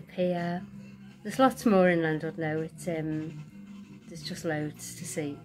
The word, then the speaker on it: Llandudno: So we're looking forward to our little breakaway at the end of October, to Llanwrd now. Llandudno, as the Welsh pronounce it.